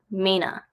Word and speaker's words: Mainer: So typical people from Maine are referred to as Mainers, but because of the northern accent, it actually pronounced Maina.